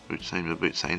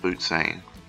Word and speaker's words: Mabutsane: Mabutsane, sorry, I keep saying it wrong. Mabutsane.